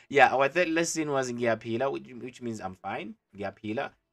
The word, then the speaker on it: ngiyaphila: But anyways, yeah, our third lesson was ngiyaphila, which means I'm fine.